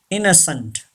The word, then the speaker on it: innocent: Number 10, innocent. Yes, second N is not pronounced and E is also not pronounced.